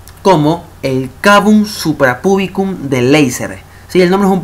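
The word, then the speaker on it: Leiser: se lo conoce como el cabum suprapubicum de laser.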